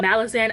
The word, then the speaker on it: Malazan: Malazan, I pronounce it Malazan.